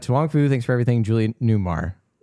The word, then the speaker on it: Julie Newmar: And I mispronounced it. It's Julie Newmar, but I'm going to keep that in.